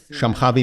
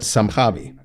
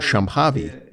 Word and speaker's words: Shambhavi: Technically, the sh sound in the word Shambhavi should be soft, according to Sanskrit pronunciation.